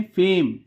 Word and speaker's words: fame: ई sound का अपना उच्चारण नहीं होता। इसे क्या पढ़ेंगे? FAME, क्या पढ़ेंगे? फेम।